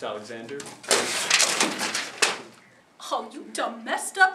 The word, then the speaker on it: Alexander: Because it's pronounced Alexander.